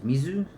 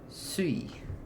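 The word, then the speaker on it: 水: So when you see uh yeah coi for water is mizu. So when you see the kanji mizu standing by itself you read as mizu.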